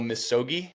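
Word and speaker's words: misogi: about for doing I'm going to probably mispronounce it. Your annual Missogi. Is that right? Good pronunciation. Proper pronunciation.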